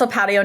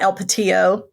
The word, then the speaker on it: El Patio: No, so El Patio, and it is pronounced El Patio, not El Patillo, because it's a local Mexican restaurant, but they have chips